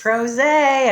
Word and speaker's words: PRosé: for another edition of pros a with vicki lock and cindy wooley from c2 communications cheers cheers everybody it's pros a a couple of pr pros drinking rhymes with rose and talking to fabulous